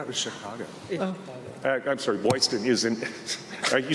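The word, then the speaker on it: Boylston: Like Boston. TIL. Boston with a flair.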